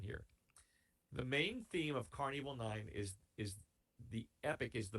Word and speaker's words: Karn Evil 9: The Carnival is spelled Karn. That's the first word, and the second word is evil, Evil. Carnival 9. That's the name of the song. Carnival is a play on Carnival.